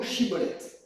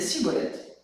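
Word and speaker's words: Schibboleth: S'il répondait non, il lui répondait, il lui ordonnait pardon de prononcer le mot chibolet. S'il disait si bolette parce qu'il n'arrivait pas à le prononcer comme eux, il le saisissait et l'exécutait près des gu du Jourdain.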